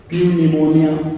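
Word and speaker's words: pneumonia: इनमें एक है हमारा न्यूमोनिया, या हम जैसे न्यूमोनिया, तो इसमें ध्यान रखना है पी साइलेंट होता है, न्यूमोनिया हो गया, ठीक है।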